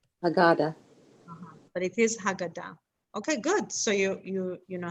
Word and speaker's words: Haggadah: But it is Haggadah. Okay, good. So you know how to pronounce it.